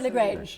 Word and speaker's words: Le Grange: your surname completely so do i go with lagrange yeah that's fine that's that's that's no